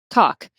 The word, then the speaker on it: caulk: You seal it with CAULK, which is pronounced cock.